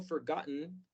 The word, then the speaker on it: forgotten: Y se pronuncia, la T se marca muy bien. La letra E hace el sonido de schwa. La letra I en esta palabra suena como no como E ni como I.